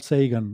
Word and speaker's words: Sagan: Sagan o Sagan, yo suelo decir Sagan porque es como en español se nos ha quedado esa pronunciación, ¿no? Pero él, sí, cuando él dice su nombre, él dice que se llama Carl Sagan, ¿no? Esa es la pronunciación así inglesa.